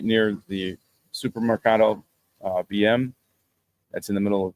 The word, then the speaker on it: BM: He lives in a place right near the Supermercado BM. That's in the middle of Uvita. And BM is pronounced Beme in Spanish. At least it's similar to that.